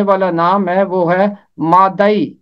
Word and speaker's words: مادئی: نام ہے وہ ہے مادئی، یہ مادی نہیں ہے، مادئی، دال کے اوپر زبر ہے۔ نہمیہ 3 باب کی